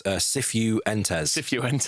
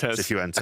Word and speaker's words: Cifuentes: No, you're saying his name wrong. It's Cifuentes. Cifuentes.